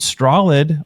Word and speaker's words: Strolid: And Strolid, although it sounds like a straw that you drink through and a lid on top of, it's spelled STROLID because it's strong and solid.